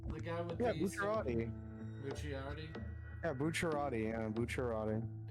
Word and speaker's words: Bucciarati: The guy with Yeah, the Bucciarati. Bucciarati. Yeah, Bucciarati. Yeah, Bucciarati. Yeah, it's hard to say his name. It's spelled like Bucciarati, but it's Bucciarati.